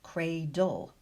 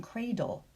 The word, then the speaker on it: cradle: Because every syllable needs a vowel sound, the final syllables do contain an unwritten schwa sound. If you listen, you'll hear a schwa between the B and the L in Bible, between the D and the L in cradle.